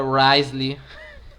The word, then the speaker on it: Wriothesley: É Risley? Interessante. Pô, mó nome complicado e a pronúncia só é Risley.